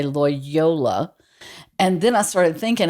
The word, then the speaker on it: Loyola: Kind of like Toyota. I say that because it was Lyola. Lyola.